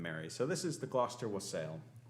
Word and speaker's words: Gloucester: place in america where they know how to pronounce that word gloucester um so this tradition in england was back